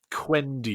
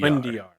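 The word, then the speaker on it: Quendiyar: Quendiar. Quendiar.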